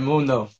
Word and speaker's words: Mundo: Yeah, that's exactly how you say it, Mundo.